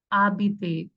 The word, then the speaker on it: habite: Now it's like habite. H is silent in French.